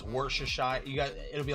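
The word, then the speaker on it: Worcestershire: Warchester Shire.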